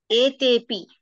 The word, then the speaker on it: etepi: Purvapasandhi, but how will you pronounce it? Etepi. Etepi. Well done.